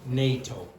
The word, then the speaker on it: NATO: How do you pronounce it? No. NATO.